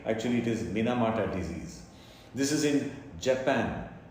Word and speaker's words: Minamata: uh sometimes spelled m-i-n-i so it can be pronounced mini mata correctly actually it is minamata disease this is in japan a village actually